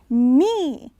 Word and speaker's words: knee: K. But you don't pronounce it. It's actually N. K, N makes the N sound. E, 2 E's. Knee.